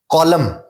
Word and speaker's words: column: کالم, کالم میں N silent ہے.